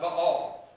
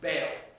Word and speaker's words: Baal: And it was the practice of Baal, or as some of you might have heard, Baal. If you want to look professional and you want to sound scholarly, say Baal. That's how they pronounced it back then.